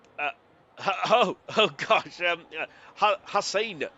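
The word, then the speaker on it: Haas: Um, Hass, not Hassan, I apologize.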